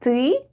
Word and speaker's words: ты: When we need to say "you want" it's ТЫ ХОЧЕШЬ /têê hhochesh/... ...where ТЫ /têê/ is "you" and ХОЧЕШЬ /hhochesh/ is "want."